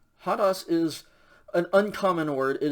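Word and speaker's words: ὁδός: fourth word is pronounced hadas if you look closely you can see that it has a rough breathing mark over the omicron so you pronounce an h sound before that hadas hadas is an uncommon word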